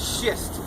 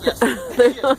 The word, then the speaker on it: schist: Particular bedrock is called schist. It's spelled schist.